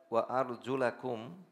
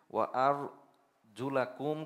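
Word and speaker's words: وأرجلكم: আর কেউ যদি ওয়া আর জুলাকুম এইটাকে পড়ে ওয়া আর জুলিকুম, লাম জবর থেকে জেরে চলে আসে, জুলিকুম পরে, বলতে যদি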